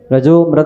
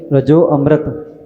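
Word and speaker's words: रजोऽमृत: श्रावक को करना चाहिए रजा अमृत दिग देहा तो रजा और अमृत जब शब्द जोड़ा जाता है तो बन जाता है रजो मृत जैसे एक शब्द आता है स हम सोहम शुद्ध अहम शुद्ध हम तो य संधि करके रजो मृत यही उच्चारण करना चाहिए जहां पर वह गण चिन्ह आता है वहां पर साइलेंट समझा जाता है और रजु मृत जो उच्चारण है वो सही है मध्य प्रदेश से ऋषि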